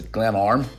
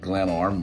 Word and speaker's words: Glenarm: attended the camp dal fest things from the pronunciation camp dal fest music festival and as a glam arm i just try to remember where it was at the start of the vlog glenn arm which is on at the anthem coast if